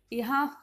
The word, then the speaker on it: ह्यः: यहाँ ह आधा है, य है और विसर्ग है, तो इसे उच्चारण किया जाता है यह।